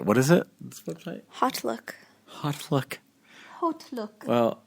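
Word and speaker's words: HauteLook: Oh, it's spelled like all different because they couldn't. They probably couldn't. Somebody else. No, because it's haute couture.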